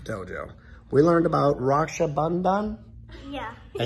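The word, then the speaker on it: Raksha Bandhan: We learned about Rakshabandan.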